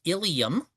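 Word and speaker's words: ileum: L E U M, also pronounced ilium, is a portion of your small intestine that is located a few inches inside of your abdomen away from your illium, your hip. They're pronounced exactly the same.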